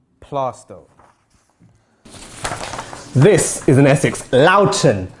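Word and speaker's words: Loughton: this is an essex loudoun not lofton unless it's loughborough anyway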